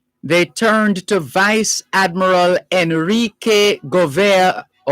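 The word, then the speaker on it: Henrique: turned to vice admiral enrique enrique and that enrique pronounced without the h but spelt with the h h e n r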